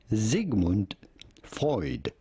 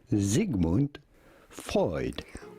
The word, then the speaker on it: Sigmund Freud: at how to pronounce in german his name would normally be pronounced sigmund freud sigmund freud or the beyonce of